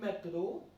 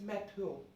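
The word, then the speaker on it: métro: It's not like metro, it's metro. Our sound will not be much significant in this word.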